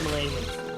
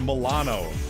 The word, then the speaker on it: Milano: man i love the millennium those are my favorite it's like on uh scrubs just like it's pronounced milano jd you know what